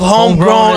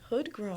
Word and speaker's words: Hoodgrown: of Homegrown Aesthetics. No, you said it wrong. What did I say? You said homegrown. Oh, wait, what is it? Hoodgrown.